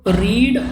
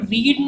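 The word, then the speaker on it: read: Speaking करते हैं तो रीड और रीड, देखिए है तो ये रीड ही, बट जब हम पास्ट की बात कर रहे हैं तो हम रीड नहीं बोलते, इसको रेड बोलते हैं, तो इसकी प्रोनाउंसिएशन चेंज हो जाती है।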